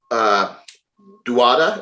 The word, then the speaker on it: Dauda: William Bonac, Max Charles, Brandon Curry, Samson Duada. Is that how you say his name? Dauda, yeah.